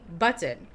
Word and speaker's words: button: And I'm like, oh, because apparently people don't say the double T's.